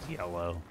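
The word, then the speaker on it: Yelough: weapon between this and yellow anx tunnel um will be maxed out and I know it's a weird it's a weird spelling but it is pronounced yellow there are eyes of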